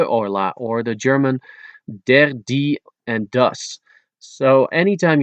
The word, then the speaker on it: de: The word de is pronounced as de. D-E is how it's spelled. Or a little like the English expression duh.